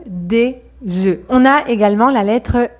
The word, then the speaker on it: œufs: Attention, le mot œuf, quand il est au pluriel, change de prononciation et on dit un œuf, des œufs.